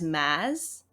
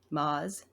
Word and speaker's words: Maas: Maz or Maz E I actually came across the pronunciation as Maz rather than Moz so I've been saying it wrong oh it's a mess